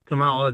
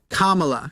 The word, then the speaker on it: Kamala: yes she did and by the way Matthew the next time you say Camala you're done she gave her response the next time you say Camala you are done Kamala you can put in